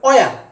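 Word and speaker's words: where: এই শব্দটাকে অনেকে হোয়াট বলে, এটা হোয়াট নয়, এটা উচ্চারণটা হবে ওয়াট। ওয়াট, এটাকে হয়ার বলে, এটা হয়ার নয়, এটা হবে অয়ার।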